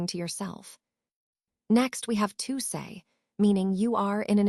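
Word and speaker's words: sei: Next we have say pronounced say.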